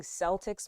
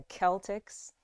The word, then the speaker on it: Celtics: the celtics so now i've been saying celtics my whole life that's incorrect it's the celtics so there it is